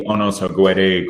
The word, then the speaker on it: Unöhsagwë: As Sharon knows, it is pronounced the Unöhsagwë Cultural Center.